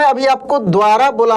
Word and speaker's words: द्वारा: तो इसमें देखिए दोस्त द का उच्चारण काफी तेजी से हो रहा है, मतलब कि आधा द है, वारा, देखिए द्वारा, द्वारा यानी आधा द है और वह है, समझ रहे हैं ना।